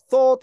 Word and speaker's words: thought: 자, TH 발음을 못하시는 한국 사람들 되게 많죠. 아, 그래서 뭐 스트 뭐 이렇게 발음하는 분들도 가르쳐주는 거 봤는데 그게 아니고요. 혀를 입술 사이에 깨무는 겁니다. 약간만. 그래서 뜨하는 뜨만 떼서 혀를 약간 깨문다 그러거든요. 이건 제가 알려드린 게 아니고 언어 전문가들이 알려주는 거예요. 그래서 thought 할 때는 약간 깨무셔야 돼. 쌍디귿 발음인데 약간 깨무는 발음이랍니다.